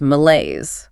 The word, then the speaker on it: malaise: Our next noun is malaise. Malaise. Sounds vaguely unwell. That's exactly it. Ma-L-A-Y-Z. Stress on the second syllable, ma, L-A-Y-Z.